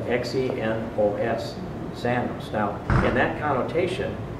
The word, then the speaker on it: xenos: It's spelled X-E-N-O-S, xenos.